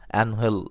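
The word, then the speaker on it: Ángel: সমর্থকদের মনে বিদায় নিচ্ছেন অ্যানহেল ডি মারিয়া অবশ্য বাংলা উচ্চারণটা আনহেল ইংরেজিদের নামের বানানে এঞ্জেল অনেকে উচ্চারণ করেন এঞ্জেল নামেই ডিমারিয়া অ্যাঞ্জেল রূপে হাজির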